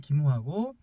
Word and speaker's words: 김화: 근데 김화도 역시 같은 어 한자를 쓰거든요. 근데 거기는 김으로 발음하는 김화고 여기는 또 금으로 발음하는 이제 금성이에요.